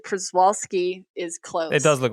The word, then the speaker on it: Przewalski: think kind of haunting i have the pronunciation it's perseverant persevolsky kurzawalski i will remember that